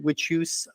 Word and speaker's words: Witchouse: podcast about witch house that's 1 h no spaces thank you very much you could pronounce it witus I will not be mad at you I believe it is